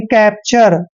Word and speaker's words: capture: और जब भी TURE चारों लेटर इकट्ठे आते हैं तो इसको हम पढ़ते हैं चर, यानी कैप्चर। कैप्चर क्या होता है?